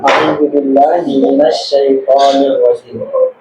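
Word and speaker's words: أعوذ بالله من الشيطان الرجيم: Cara bacanya auzubillahiminasyaitanirrajim. Kebanyakan yang salah dipisah lagi tuh. Najim. Nah, ini yang salah.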